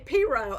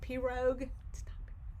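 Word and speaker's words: pirogue: wouldn't happen so yes in north louisiana we say piro i'm pretty sure they say it that way in the south i've heard people pronounce it p rogue so you know i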